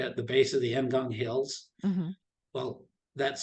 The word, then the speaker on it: Ngong Hills: the base of the Ngong Hills. Well, that's spelled Ngong. Here they don't pronounce the N, they say Gong Hills.